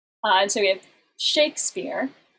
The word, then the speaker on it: Shakespeare: and so we have shakespeare it's a word where you put the stress on the first syllable and then in multi-syllabic